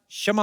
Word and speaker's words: क्षमा: मैं का शमा चाहेगा। शमा नहीं क्षमा होता है।